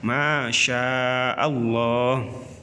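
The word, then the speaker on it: ما شاء الله: Selanjutnya, masya Allah terdiri dari beberapa huruf, yaitu mim, alif, kemudian shin, alif, hamzah, selanjutnya alif, lam lagi, dan ha. Sehingga terbaca masya Allah.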